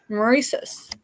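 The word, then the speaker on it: Maurices: That's Mauricus. All right, so this is size large Murice.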